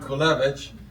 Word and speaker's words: Kulewicz: My name is Kulewicz. In the old country, Poland, it's pronounced as Kulewicz, and I'm told that at the State House, it's pronounced as.